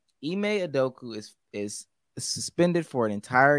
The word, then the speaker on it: Udoka: Chaz Cook, and you pronouncing that last name? What is his name? Udoka.